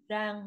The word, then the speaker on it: Giang: Zhang, d'accord.